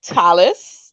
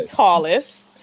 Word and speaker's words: Tallis: upstage and this is Talis Tallis I'm sorry Tallis I'm pronouncing it very Grenadian right tall man like tall man that makes sense all